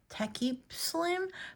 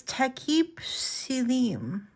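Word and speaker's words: Takip Silim: Tekip Slim, but it's Tekip Silim.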